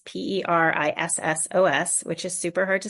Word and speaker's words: Perissos: So my therapy practice is Perisos therapy. It's Perissos, which is super hard to spell and pronounce.